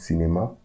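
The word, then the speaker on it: cinéma: So we pronounce it cinema, and it's a masculine noun.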